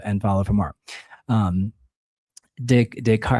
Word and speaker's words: Descartes: It's like, it's like my brain doesn't want to accept it. It wants to say descartes.